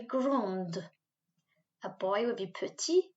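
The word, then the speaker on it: grande: pronounce it as gong a girl will be grund a boy would be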